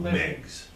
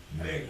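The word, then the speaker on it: Meigs: Again, Meggs. Meggs. how do you spell that?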